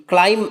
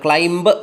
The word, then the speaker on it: climb: CLIMB, ക്ലൈം എന്നാണ് ഉച്ചാരണം, ക്ലൈംബ് എന്നല്ല.